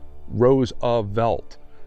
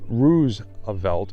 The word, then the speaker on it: Roosevelt: and grandson of President Theodore Teddy Roosevelt stated our name is pronounced Roosevelt and anyone who pronounces the first syllable as to rhyme with goose is to be admonished this statement goes for